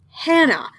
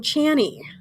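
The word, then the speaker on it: Chani: Gabe asks how to pronounce it, which is fair. She says that a lot of people have problems with it, and the last celebrity she interviewed called her Hannah, which, how? How the hell do you get Hannah from Channy?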